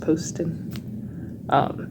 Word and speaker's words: Poston: It's pronounced Poston.